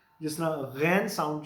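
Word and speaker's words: Ghana: घाना जगह का नाम है, they would pronounce it एज गाना, गाना.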